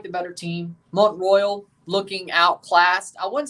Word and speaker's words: Mont-Royal: Mont-Royal, is this how it's said? Yes. Yes. It's not. It's Mont-Royal because it's French, of course.